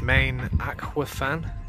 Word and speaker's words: Maen Achwyfan: Yeah, so as you can see, we've got the, I think it's called or pronounced Maen Achwyfan.